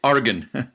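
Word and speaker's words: Oregon: that you're talking about orgon and there say that well I think the locals say organ organ organ almost like like an organ with an eye like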